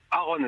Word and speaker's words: Aaron: Et donc nous avons Aaron, c'est comme ça qu'on prononce votre prénom ? Aaron, exactement.